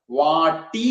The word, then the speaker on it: വാടി: വാടി, വാടി എന്നല്ല, നമ്മളൊക്കെ പലപ്പോഴും വരാറുണ്ട് വാടി എന്ന് പറയും. വാടി എന്നല്ല, ഡ എന്നല്ല അക്ഷരം, വാട്ടി എന്നാണ്. ട, അത് ഖരമായിട്ടുള്ള അക്ഷരമാണ് ട എന്നുള്ളത്.